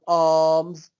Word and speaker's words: alms: he will ask for alms from people. Alms, A-L-M-S. The L is silent.